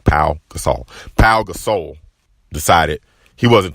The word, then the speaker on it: Pau Gasol: That's how you pronounce his name, Pau Gasol.